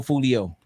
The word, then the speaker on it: Foolio: Julio Foolio. Like Julio Cesar Chavez. Foolio.